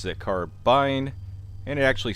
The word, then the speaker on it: carbine: in the m1 carbine which is an old gun it's been around